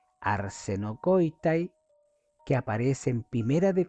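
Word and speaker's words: ἀρσενοκοῖται: Y esta palabra se pronuncia arsenocoitai. Arsenocoitay, que aparece en Primera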